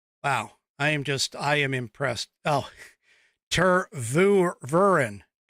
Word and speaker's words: Tervuren: Oh, Tervuren is how it's pronounced.